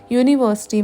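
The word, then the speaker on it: university: जैसे कि यूनिवर्सिटी में है तो यू लेकिन य की साउंड आ रही है।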